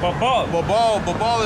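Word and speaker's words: Babel: Babal is like, okay, when I babble, because that's how you say it in Hebrew, right?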